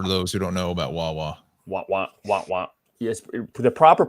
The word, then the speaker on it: Wawa: Wah, wah, wah, wah. Yeah. Wow. Kind of like let's start it here. The proper pronunciation is, let's say I'm going to Wawa anymore.